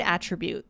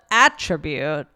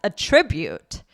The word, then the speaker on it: attribute: So, now the pronunciation changes and the stress is on the second syllable. So, instead of attribute, now my brain has to adjust.